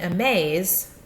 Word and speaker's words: amaze: this is our sect our long a a is in the second syllable our second syllable is the one that's accented here a maze we have a little bit of emphasis on the maze part of our word there all right looking